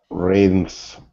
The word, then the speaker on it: rhythms: and then rhythms. That's Rhythms. the voice th.